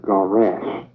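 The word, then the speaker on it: גרש: In Hebrew, divorce is garash, Gawrash. In Hebrew, it is spelled Gimel Resh Sheen.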